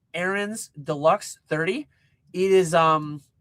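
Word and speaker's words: Ariens: I have an Aerands Deluxe 30. Aerens is is I I believe I'm pronouncing it correctly, but it's a r i ens. Aaron's deluxe 30.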